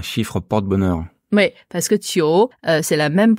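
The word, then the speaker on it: 九: Donc ce J se prononce un peu comme un, pour moi c'est un D, on met un D devant en fait, un DJ. Tio.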